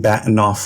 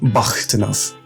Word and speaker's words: Bahtinov: The "h" is more like a "hhhkkk" and the rest is just "inov." Put it together and it's "Bahktinov."